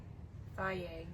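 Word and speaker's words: Fage: How do you pronounce that? Faye, says right there.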